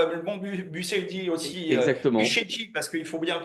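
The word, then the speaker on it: Bucegi: Bucégy, parce qu'il faut bien le prononcer en Bucégy.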